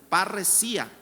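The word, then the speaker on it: παρρησία: griego Cómo se dice perí o parresía pero parresía parresía es la palabra confianza y de allí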